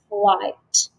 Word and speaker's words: flight: blend at the beginning my three letter i sound is igh where the i is long and then g and h is silent and now i do hear that ending sound flight good job right so